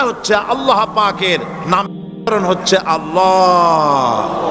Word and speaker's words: আল্লাহ: আল্লাহ পাকের নাম হচ্ছে আল্লাহ মুখটা একটু গোল হয়ে যাবে বলেন আল্লাহ আল্লাহ পৃথিবীতে বিভিন্ন জাতি